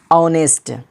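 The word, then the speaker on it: honest: जैसे ऑनेस्ट, HO, देखिएगा ध्यान दीजिए, H के बाद O आया है तो ऑनेस्ट बोलते हैं, ऑनेस्ट, यानी H क्या हो गया, साइलेंट हो गया, ऑनेस्ट, ईमानदार।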